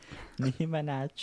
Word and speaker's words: Minaj: Minaj. Nicki Minaj. That's how it's pronounced.